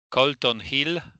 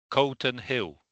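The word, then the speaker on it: Calton Hill: It's a clearer a sound. A sound. All right. So, it's a version we didn't really have. But the second element is more like hill than hill. It's hill. Hill is okay. So we need a vowel like an a uh between uh after k. Good after letter c.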